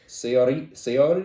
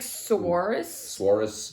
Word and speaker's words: Saoirse: Saoirse? no, it's like Suarez Ronan.